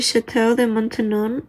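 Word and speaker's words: Château de Maintenon: So I looked it up, and the pronunciation of this castle is actually Chateau de Maintenon.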